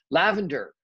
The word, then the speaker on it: Lavender: marantz lavender marantz yeah lavender not lovely i did i've done this before with you lavender marantz um she is